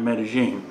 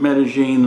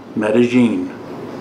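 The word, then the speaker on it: Medellín: if you're in Colombia you pronounce the Double L like a soft J metagene if you're in Ecuador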